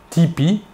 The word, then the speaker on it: TP: son nom et prénom tony parker a prononcé tipi avec l'accent américain il joue maintenant dans